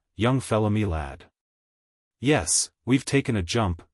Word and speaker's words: young fella my lad: This curious phrase he pronounced as if it were all one word, young fella me lad.